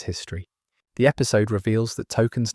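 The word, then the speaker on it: Tolkien: Stan discovers the truth when he finally sees Token's name spelled out. He's been saying it wrong all along. He thought it was Token, but it's actually Tolken.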